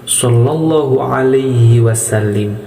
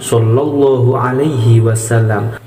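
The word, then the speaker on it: صلى الله عليه وسلم: Dan jangan salah, kadang-kadang orang salah membacanya. biasanya seperti ini, sallallahu alaihi wasallim, biasanya seperti itu. Jadi yang betul sallallahu ala Muhammad sallallahu alaihi wasallam.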